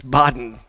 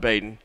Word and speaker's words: Baden: It's Baden Sports, not Baden.